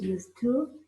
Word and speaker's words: used to: When we say used to or didn't used to, we link the two words together.